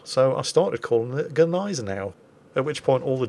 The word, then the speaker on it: Gneisenau: Germans pulled on me when I pronounced Gneisenau, and didn't pronounce the G.